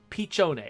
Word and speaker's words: piccione: that little white bird is a pun on piccione which is italian for pigeon pronounced pichone okay so good thank